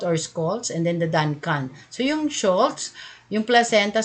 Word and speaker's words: Duncan: Kaya nga Duncan. D as in D. Dirty. Duncan. A po yan. Hindi Duncun. Hindi. Ewan ko paano ba i-pronounce. Basta A po ito. D-U-N-C-A-N. Yan po ang proper niya.